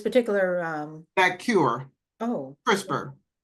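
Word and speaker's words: CRISPR: Crisper is the one that got has gotten a lot of publicity.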